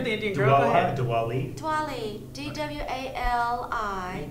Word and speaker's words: Diwali: Diwali. Diwali. D-W-A-L-I. Not even close, but yeah, same thing. Something. That's how it's pronounced. Yes, it's pronounced Diwali.